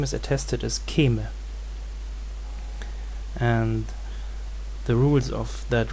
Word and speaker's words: Kême: Kûme, probably from an older Kúmat, and at some point of history the pronunciation shifted to Kême.